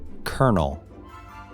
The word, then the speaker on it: colonel: Despite the fact that this word doesn't have an R in it, you actually need to pronounce it.